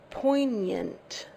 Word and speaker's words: poignant: Construction in English pronounced poignant there's no G sound for us poignant um poignant means